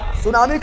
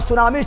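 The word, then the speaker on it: tsunami: सुनामी कौन रूप लेगा सुनामी का रूप ले लेगा और सुनामी स्टार्ट होता है टी से कहां स्टार्ट होता है टी से टी से टी एस यू एन सु ना मी तो टी साइलेंट ठीक है साइलेंट जापानीज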